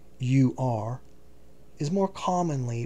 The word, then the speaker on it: Ur: Personal footnote: Ur, spelt U-R, is more commonly pronounced as or Ur.